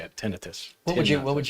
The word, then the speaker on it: tinnitus: own that's the officially how you say it tinnitus what would you what would you what's the